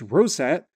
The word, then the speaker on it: ROSAT: Interestingly, this star was discovered in the early 1990s by an X-ray telescope named ROSAT, which is often pronounced ROSAT, that was also equipped with an ultraviolet camera.